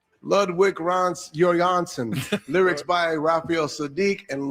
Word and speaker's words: Ludwig Göransson: My name is Ludwig Göransson. So that's how it's pronounced. Ludwig Göransson.